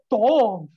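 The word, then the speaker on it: תו: তৌ হবে না, উচ্চারণটা হলো তব।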